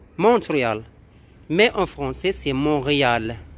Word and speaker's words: Montréal: C'est en anglais, bien sûr, on le prononce Montréal. Montréal. Mais en français, c'est Montréal. On ne prononce pas le T.